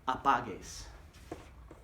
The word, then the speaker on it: apagues: No la apagues. And I have to make that hard G sound, so I add the U. No la apagues.